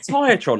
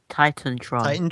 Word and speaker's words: TitanTron: He's like, Is it Tiatron or Titantron? Titantron.